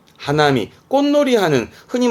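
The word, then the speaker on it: 花見: 단거 하나리 단 고라고 쓰게 됩니다 꽃을 보내요 발음은 하나미 하나미 꽃놀이 하는 흔히 뭐 사꾸라 보는 거 있잖아요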